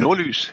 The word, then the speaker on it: Nordlys: to be the Nordlys, is that how you pronounce it? Yes, Nordlys.